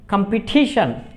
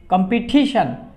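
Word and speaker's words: competition: সি ও এম ফি ই টি আই টি আই ও এন, কম্পিটিশন, কম্পিটিশন। এখানে কিন্তু টির উচ্চারণ কিন্তু টিয়ার উচ্চারণ কিন্তু বাংলা টর মতো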